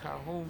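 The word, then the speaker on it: cajón: It's pronounced Cajon, spelled like Cajon.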